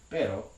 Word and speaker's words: pero: successfully completing that trill spanish also has another r sound that might be a shorter version of the trill that's referred to as a tap and that's the sound as in pero so these mean two